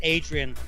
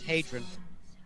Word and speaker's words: Hadrian: It's just a lot of people think it's Adrian, which is the Anglo name. Like a Rocky. Yeah. Adrian. But it's because, again, the Brits have a difficulty with pronouncing H's. So, But it's Hadrian without the H, right? without the H, yeah. But the original Latin name is Hadrian.